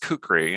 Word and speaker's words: kukri: one that one from Nepal yeah it is pronounced kukri and it's from Nepal or at least it's pronounced kukri if you're a white person like me that's